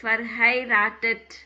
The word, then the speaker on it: verheiratet: verheiratet.